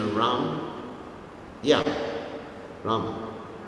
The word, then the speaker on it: Rama: Rama. Rama. It's very soft, Rama. Hare Krishna, Krishna Krishna, Hare Hare, Hare Rama, Hare Rama. Hindi. Soft at the back.